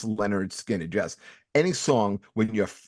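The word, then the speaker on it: Lynyrd Skynyrd: Name is Pronounced Leonard Skinner. pronounced Leonard Skinner.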